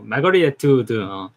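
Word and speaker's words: Margaret Atwood: 오늘의 작품은 마가렛이 아닌데 마거릿 애트우드. 발음 영어 발음이니까 다양하게 할 수 있죠. 마거릿 애트우드 맞습니다.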